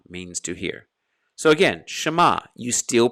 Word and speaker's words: Shema: an e s-h-e-m-a for schma it's short but it is pronounced the second example is